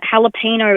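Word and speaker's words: jalapeño: That the J is silent in jalapeno and fajitas.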